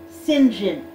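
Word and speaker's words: St John: would be Church stir it's like how you can have si int space Jo HN and have it be pronounced singe in oh my god Wow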